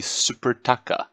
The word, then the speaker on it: Supertaça: our first meaningful game it is in the supertaça that's how you say it this is the